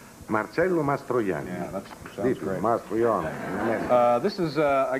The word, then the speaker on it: Marcello Mastroianni: a commercial how do you say your name marcelo mastroyan uh this is uh i guess uh sunday's